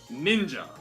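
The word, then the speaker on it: 忍者: Sha is the most common other reading for this kanji. However, when it is paired with this nin, as a rare case, it is pronounced as ja. And thus, this shinobi no mono could indeed be shortened and read as ninja.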